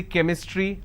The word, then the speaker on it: chemistry: But when I have the word chemistry, CH becomes k sound. So I say chemistry, I say chrome, so